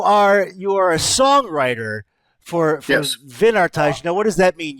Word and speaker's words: Wynardtage: So Germany's own WYNARDTAGE. You are a songwriter for Yes. WYNARDTAGE.